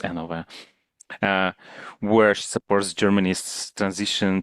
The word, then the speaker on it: NOW: So it's written now, and it's very hard to pronounce it not as now, NOW, or it's NOV. How do you pronounce it? NOV or N. And Yeah. then NOV, because it's a German company, so it's NOV.